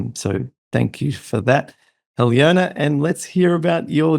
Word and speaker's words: Aljona: Her name is, well, it looks like Aljona, but it's pronounced Aljona, she tells me.